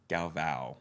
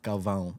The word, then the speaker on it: Galvão: The AO though, it's a tilde. For all the fans out there that don't understand, Okay. I'm Brazilian American, so my dad's Brazilian. Okay. Which is interesting. We never talked about this before. We never talked about the pronunciation of my name. No, I just So assumed. it's like a ow.